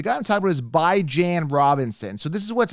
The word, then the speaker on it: Bijan: e a w-e-e-k-l-e-y whatever bi-weekly right bi-monthly right so it's by John Robinson I want to